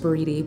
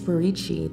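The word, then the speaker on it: buriti: and think it's pronounced breedy but it's burichi the Brazilian pronunciation of the word this shampoo features borici oil pecky oil and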